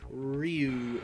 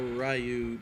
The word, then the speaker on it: Ryu: start with the classic Ryu or Ru depending on how you want to pronounce it all right round fight